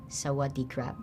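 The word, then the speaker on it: สวัสดีครับ: Is it Sawad crap? Sawad crap. That's perfect.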